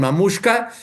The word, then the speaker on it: Mamushka: Mamuska se escribe como se oye, o sea, m a m u s eh h k a mx.